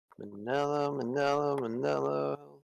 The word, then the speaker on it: Manello: Manello. Rhymes with lemon jello.